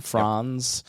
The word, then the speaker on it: Franz: Fron. You could say it either way, but you know, I'm from We have Appalachian roots, so it's fr. We don't know how to say it. We say it different every time.